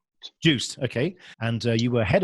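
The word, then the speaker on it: Joost: involved in the internet startup uh is it pronounced us or Juiced Juiced okay and you were head of yes platform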